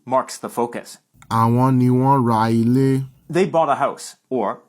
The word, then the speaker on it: wọ́n ra ilé: Note that in speech, this is pronounced like, wọ́n ra lé, because when a word ending in a vowel is followed by a word that begins with a vowel, they blend together.